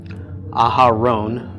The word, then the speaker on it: Aharon: Aaron in Hebrew is Aharon, and I'm not sure which combination of vowels actually this is.